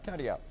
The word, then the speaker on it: Katia: It's Hurricane, how do we pronounce her name? Katia. Yeah, Katia.